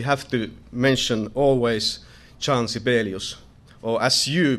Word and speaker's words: Sibelius: And of course, we have to mention always Jan Sibelius, or as you pronounce it, Sibelius here in States.